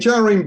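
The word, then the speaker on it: Jahream: And Jareen Buller is a reggae singer, if anyone is. Yes, 100%. I mean, the first syllable of his name is Jar, spelt literally J-A-H.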